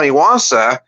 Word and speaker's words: Iwasa: So I figured that Cam Iwasa, it kind of rhymes with salsa.